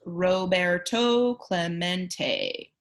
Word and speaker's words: Roberto Clemente: robera Clemente was his name and this is pronounced Roberto Clemente as if to introduce himself Roberto smacked the